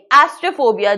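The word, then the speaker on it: astrafobia: कहेंगे उसे कहते हैं ऑस्टेरोफोबिया क्या कहेंगे एस्ट्रेफोबिया जो बाद वाला ए है वो स्लाइड्ली कम प्रोनाउंस होगा और लाइटनिंग नेक्स्ट बताओ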